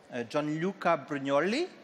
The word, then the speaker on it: Gianluca Brugnoli: Gianluca Brugnoli, do I pronounce it good?